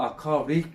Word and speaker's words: aquatic: 미국식 발음은 아쿠아릭 비슷하게 나오지, 그죠? 영국식 발음은 Aquatic. 아쿠아틱.